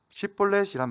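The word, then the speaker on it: 쉽볼렛: 입다가 에브라임을 물리친 후 요단강 나루토에서 도망치는 에브라임 사람을 가려내기 위해 쉿볼렛이란 말을 사용합니다. 에브라임 사람은 쉬라는 발음을 못하고 시라고 발음하는 습관이 있었습니다.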